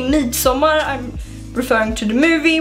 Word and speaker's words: Midsommar: So Midsommar is how you say it in Swedish, and that would translate to Midsummer in English.